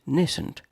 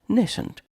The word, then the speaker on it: nascent: Today's word is nascent. Nascent. Nascent. 2 syllables. Nascent is an adjective.